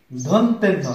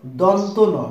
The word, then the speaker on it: দন্তন: আমরা অনেকেই বলি ধন্তেন্ন, আসলে ধন্তেন্ন না, এটার নাম হলো দন্তন, দাঁত থেকে উচ্চারণ হয় বিধায় এর নাম দন্তন।